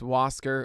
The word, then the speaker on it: Huascar: It's Huascar. Huascar Unoa. Huascar Unoa.